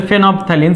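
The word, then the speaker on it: phenolphthalein: একটা হচ্ছে ফেনলফথ্যালিন বা ফেনপথ্যালিন, আর কি ফেনলফথ্যালিন আসলে বানানটা ঠিক রাখার জন্য বলি, আসলে ফেনপথ্যালিন।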